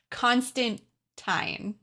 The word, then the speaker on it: Constantine: it out by now it is constant time Constantine yes elephant in the room that is how you say the name I'm not going to say it that way but this is how you say it yeah that's how you